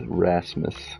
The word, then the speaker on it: Rasmus: are at the beginning of a word is pronounced like an H so that's like my my automatic go to so yes Rasmus gotcha Rasmus nice to meet you friend play